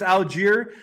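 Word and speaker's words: Allgeier: I don't know how to pronounce his name, but is it Algier? Yes.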